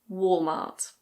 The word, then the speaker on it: Walmart: In British English this is Walmart.